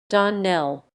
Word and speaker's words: Donnell: would set it right Don Nell Accent on the last syllable you'll remember thank you